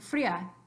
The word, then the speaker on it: fría: So you've got free, separate from A. So agua is only two syllables, agua, and fría is two syllables, fría.